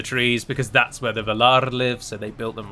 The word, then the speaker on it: Valar: the way it's spoken, you roll the R, you give some oomph to the R, so it's Valar.